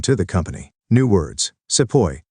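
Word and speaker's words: sepoy: the company new words SEO this is how the British pronounced the word sepahi meaning an Indian soldier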